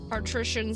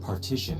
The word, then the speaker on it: partition: there lockers all lined up on the wall partition set up by the doorway probably to obscure the view for visitors it's pronounced partition and not partition I know how it's pronounced